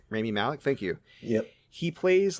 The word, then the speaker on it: Rami Malek: I can't remember how to pronounce his name. Rami Malek, thank you.